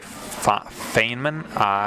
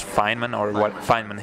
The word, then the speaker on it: Feynman: And I think I actually once, during my high school physics lessons, I watched a lecture from Richard Feynman, if I pronounced it correctly. I think it's Feynman, yeah.